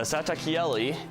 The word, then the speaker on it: Satakieli: kiali by little Dynamics the satak Kelli is indeed pronounced that way because I looked it up it is Finnish for nightingale so we have another